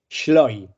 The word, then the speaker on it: Schleu: proseguir el primer misterio Cómo se pronuncia correctamente tu apellido sloy sloy sloy muy bien Ahora